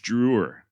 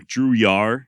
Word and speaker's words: Drouillard: It is French, spelled Drouillard, and apparently the D is silent. I went back and forth on whether to use Drewer or Drouillard, so you may end